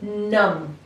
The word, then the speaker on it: numb: ये नंबर 6 word है और इसको हम प्रोनाउंस करते हैं नम, NUMB। बी जो है यहाँ पे साइलेंट है, इसे हम लिखते तो हैं लेकिन हम इसे पढ़ते नहीं।